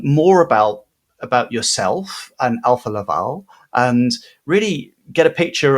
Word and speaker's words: Alfa Laval: So um Alpha Laval is have I pronounced that correctly? Uh Helga Alpha Laval.